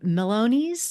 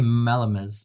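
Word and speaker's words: melomys: change the Bramble K melonies is that how you say it I think it's the Bramble K malamis but malam okay okay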